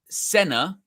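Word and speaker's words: Senne: He said official pronunciation, it's Senna. So emphasis on the f on the first he's he's he's Dutch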